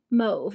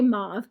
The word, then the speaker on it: mauve: mobs collection or wait how do people say mouth they say move making moves collection I can't I can't get on board with it I think that's actually the proper way to say it but I still say mauve so this one is